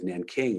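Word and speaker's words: Nanking: in the city of Nank King or Nanjing, depending on how you pronounce it, I mean, it's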